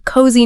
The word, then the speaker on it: cozy: Like security, feeling safe, and relaxed, a cozy night in. And the pronunciation, she points out, it's a zuz sound, not an s.